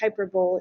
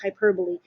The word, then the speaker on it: hyperbole: they are interesting um hyperbole uh it's not pronounced hyperb it's hyperbole that's when you we use these a lot